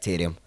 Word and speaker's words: Taryam: how you say it that's how my family say my name is like tyrion so that's my real